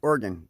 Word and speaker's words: Oregon: oh, by the way, that's how you say it. Just Oregon. Like, you know, you have organs, you play an organ, you mine ore, you shoot a gun, or you can think of it this way.